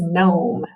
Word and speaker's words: gnome: right the gn digraph mark out that g because it's silent we have an o and a silent e so this o is long this word is gnome all right good the